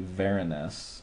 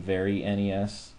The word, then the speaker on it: VeriNES: The reason what VeriNES means is Vera is because it's written in Verilog. So that's short for Verilog, and then obviously NES. So it's a Verilog-based NES. You can also pronounce it as in VeriNES, and I kind of like that too because it fits, because it's very much like the NES because it's written in hardware and not software.